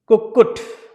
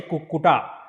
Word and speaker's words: Kukkutaasana: So, next asana is Kukkut. It's called Kukkut. Kukkut. So, Ku, 2 times Ku and U. So, Kukku, then Ta. Don't say Kukkuta. It's a Kukkut.